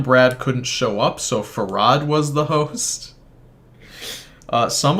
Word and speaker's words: Fard: pronounce his name because it's spelt fard f-a-r-d his name is pronounced farad uh if that's not